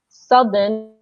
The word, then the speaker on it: southern: So northern means in the north and southern means the same east.